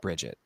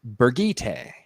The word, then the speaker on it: Birgitte: spelled Bridget, would say Bridget. And it was just kind of common, and that's how a lot of people thought about the character. Apparently, it's actually pronounced Birgitte or Birgitta, I think Birgitta.